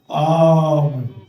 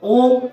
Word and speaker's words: ওম: করে ওম মানতে কথাটা অম কথাটা অম কথাটা অম কথাটা অনেকে বলে ওম ওম ওম ওম না কথাটা হচ্ছে সংস্কৃত মন্ত্র